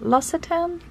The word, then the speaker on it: L'Occitane: And then I have a couple from the L'Occitane, that's how you say it.